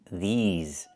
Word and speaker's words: these: I need the long e like green beans. These plus the z sound like in zebra and zipper.